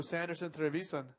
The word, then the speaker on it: Sanderson Trevisan: This is our rider in the blue, Sanderson Trevisan, rolling from the top. How's my pronunciation of his name? Sanderson Trevisan. That's how we speak. Yeah, that's good.